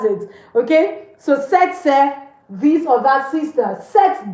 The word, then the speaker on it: sœur: Cette sœur. Please, people say swear. Or it's not swear, it's say, like say. That's it. Okay? So cette sœur, this or that sister.